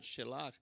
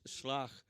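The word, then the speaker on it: שלח: a one syllable word it's not shellach it's slach and it means send aha for yourself another one syllable word not two as in modern hebrew uh send for yourself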